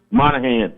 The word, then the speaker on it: Moynihan: Moynihan.